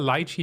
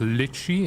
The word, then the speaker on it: lychee: I can peel a lychee now in under five seconds consistently I'm really I've gotten really good at it in Thailand it's pronounced lychee and not lychee that's all the same